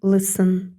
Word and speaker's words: listen: таких як слухати лисен пишеться ти але не читається і в транскрипції записуємо Listen або митушня басово поспішати